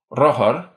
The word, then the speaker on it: rothar: The distinction for R has been lost at the beginning of syllables, but not at the end, making the difference between bike, roher, and bikes, rohers, for example.